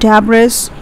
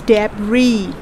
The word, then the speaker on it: debris: it's the remains of the rubbish so it's pronounced as debris it's not dabris it's debris we are going to put stress on the